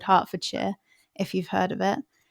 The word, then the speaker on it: Hertfordshire: And I'm glad you said Hertfordshire. When I moved here, it took me a week or so to figure out that that was the pronunciation.